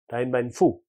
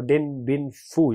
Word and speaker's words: Dien Bien Phu: Dien Bien Phu. Or Dien Bien Phu. You can pronounce this like this.